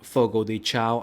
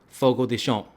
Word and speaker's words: Fogo de Chão: it is actually pronounced Fogo de Chão. I'm like, what? How is it pronounced that? But that's how they do it in Brazil, right?